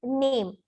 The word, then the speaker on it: Name: Then the next is name. In English language, we say name, but the same with the same spelling in German, the pronunciation is Name. Name.